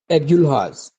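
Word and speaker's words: Agulhas: और दूसरी केप ऑफ एगुलहास ठीक है एगुलहास दूसरी केप है केप ऑफ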